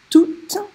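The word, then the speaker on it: tous: The feminine singular form is toutes. The masculine plural form is tout. Now there I'm not pronouncing the S, not as an adjective.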